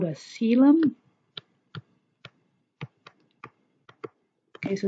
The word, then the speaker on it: coelom: that is called a coelom okay so this is pronounced seal um and it's a body